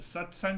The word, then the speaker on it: satsang: But satsang has two syllables.